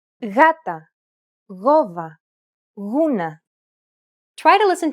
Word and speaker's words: γάτα: When it precedes an A, O, or U, however, it's pronounced like a loosely held G sound. Γάτα, γόβα, γούνα.